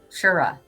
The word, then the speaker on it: Truro: So Dawn is saying where she lives is called Truro, but Yep. the local pronounce it Shura.